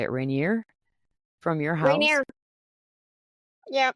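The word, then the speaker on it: Rainier: Reineer from your house, Reineer. Yeah, Mount Reineer.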